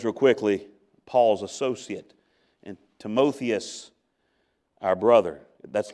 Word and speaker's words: Timotheus: your path notice real quickly Paul's associate and timothius our brother that's not pronounced timotheus it's timothius timothius our brother you're not sinning against God